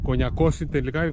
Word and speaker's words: Κονιακός: χωματόδρομο που γράφει προς Κόνιακο. Κονιάκο. Ναι. Βγαίνει πάνω από Κονιακό. Κονιακός είναι τελικά, Κονιακό. Πού τονίζεται. Πού τονίζεται αυτή. Κονιακός είναι. Ναι.